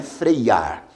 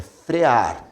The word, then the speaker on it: frear: Observe por exemplo que o verbo frear não tem essa letra i não é freiar é frear sem a letra i porém essa letra